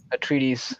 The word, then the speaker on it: Atreides: A treatise, I think. Yeah, that's how you say it.